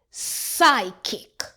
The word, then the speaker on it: psychic: P S says S. The P is silent. Psychic.